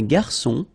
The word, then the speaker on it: garçon: Une cuillère à soupe, un garçon. Remember when we get this cédille beneath the C, it will give you the pronunciation S of C. So instead of K, as it should be with O, okay?